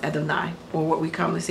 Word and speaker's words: Adonai: hoping you're hopeful but in respect for God's holy name it's pronounced adenine or what we come